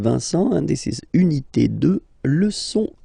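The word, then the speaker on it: deux: 2, final X not pronounced, okay?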